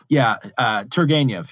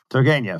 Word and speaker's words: Turgenev: compares Dostoevsky and then, how do you say, Turgenev. Turgenev, yes. Turgenev. Yeah, Turgenev. Fathers and sons. He makes this point, pardon my bad pronunciation here, between what he called, as you